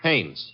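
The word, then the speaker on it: Haines: I what did you say his name is Hanes h a i n e s oh oh haes yeah do you know him that is a fellow name Hines used to fish out no no no not Hines hannes couldn't be Huntingburg no it couldn't the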